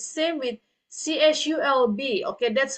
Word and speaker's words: CSULB: Okay, it's same with CSULB. Okay, that's how they pronounce it.